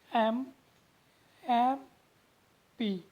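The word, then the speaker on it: MP: mister Singh is dash एम पी, एमपी को देखो pronounce कैसे करते, एम एम पी, ए एम, एम एम पी, आ की साउंड निकालता मीन्स अ की साउंड निकालता है, ए की साउंड, एम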